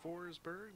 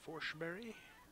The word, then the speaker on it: Forsberg: Looks like Forsberg, but I guess it's Forsberg. Must be the Swedish pronunciation.